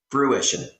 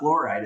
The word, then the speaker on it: fruition: say the word fruition fruition did I say it wrong yeah it's not fluide it's FR it's I just said I just said fruition there's no L I didn't say an